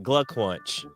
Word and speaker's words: Glückwunsch: My Glückwunsch. That's how you say it in German.